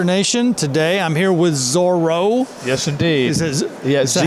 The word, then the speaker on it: Zoro: Youth Worker Nation, today I'm here with Zoro. Yes, indeed. Is that how I pronounce it right? Z-O-R-O, yeah, just like it sounds. That's right. One R, Z-O-R-O.